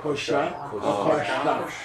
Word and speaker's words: kosha: There's two shas in Sanskrit. Sha and sha. Turn your tongue back. Sha. And there's, if you want another debate. Yeah. Kosha is spelled both ways. Kosha. Kosha. So it's meaning and its pronunciation are dankas? Yeah, it's a choice. Right. It's a, both are legal.